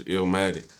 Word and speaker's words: Eelmatic: of is it L or Ill ill ill like uh pronounce the same way you would pronounce like nas illmatic illatic got